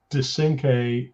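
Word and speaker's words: Descinque: we pronounce that uh well i pronoun i pronounce it de synche and it it actually was uh a hat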